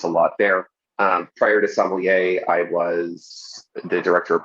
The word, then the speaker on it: Sommelier: Sommelier. You can pronounce it a lot of different ways, but yes, I am. Yes. And it's certainly not smellier. Just want to make that clear. We're not talking about smellier. It is spelled smellier. S-O-M. Kind of. Yeah, but but anyway, I don't know. I say it that way in my head sometimes for fun, but no, it's definitely not pronounced that way.